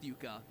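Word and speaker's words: yuca: taro sweet potato batata and yuka yeah it's pronounced yuka i looked it up it came as a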